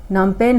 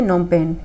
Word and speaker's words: नोम पेन: ठीक है कंबोडिया की नम पेन है यह नोम पेन पीस साइलेंट है इसका नोम पेन है ठीक है वियतनाम